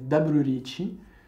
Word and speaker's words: daburu riichi: The other yaku that comes with riichi is called in japanese "daburu riichi" It's the japanese pronunciation of the english word "double", so it means"double reach".